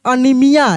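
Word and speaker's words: anaemia: बीमारी का नाम है ए एन ए ई एम आई ए यह है एनीमिया एक बीमारी है एनीमिया तो यहां पे जो ए इ है ए इ उसको हम लोग इ पढ़ दे रहे हैं एनीमिया क्या पढ़ेंगे इसको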